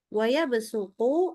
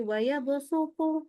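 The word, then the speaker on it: وَيَبْسُطُ: itu katanya adalah wayabsuqu wayabsuqu itu wajib dibaca sin. Tapi ee sepanjang ana membaca berkali-kali terutama kalau apalagi nanti kita sudah masuk di hafalan itu kecenderungan kita itu bacanya jadi wayabu. Nah itu itu jadi sinnya enggak sin tapi sudah setengah qasat itu ya. Sementara riwayat haf itu adalah ee memberikan itu panduannya adalah ke sin ya.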